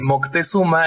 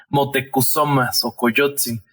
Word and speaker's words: Motecuhzoma Xocoyotzin: historiadores anotan que el nombre de moctezuma era en realidad o se pronuncia en realidad motecuhzoma xocoyotzin nada más que los españoles y no lo podían pronunciar al estado trabajo de